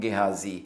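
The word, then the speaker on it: Gehazi: assistant na si gazi sa mga pangalan na Hebrew pangalan na jewish pagka gusto niyong magkaroon ng mas tamang pronunciation mas tama yung tagalog pronunciation or yung Filipino pronunciation kaya sa english style pronunciation So yung jz na yan sa English Pag sinabi mong ghazi mas malapit yan sa original Hebrew translation or pronunciation so sabi niya Tanungin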